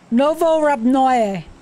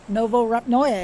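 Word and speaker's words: Novorepnoye: Novo Rabnoye. That's how it's pronounced. Novo Rabnoye.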